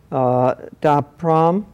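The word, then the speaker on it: Ta Prohm: Taprom, did I pronounce that correctly?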